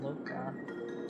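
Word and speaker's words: Luocha: Oh man, okay, so we're playing as Dunham again, and then we have, is it Loka? It's pronounced Loka, and then Sushang.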